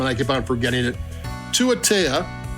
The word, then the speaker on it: Tuatea: They have a pronunciation thing in the bottom, and I keep on forgetting it. Tuatea.